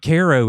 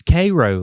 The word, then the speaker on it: Cairo: But then some people be like, "It's not Ko, it's Cairo." Like the syrup. And I'm like, "Well, now y'all are fighting." So, I mean, who knows? But it is spelled like Cairo Egypt in my defense.